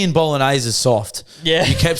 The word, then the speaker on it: Bolognese: Legend it's Bolognese it's not bolognes anyway go on guys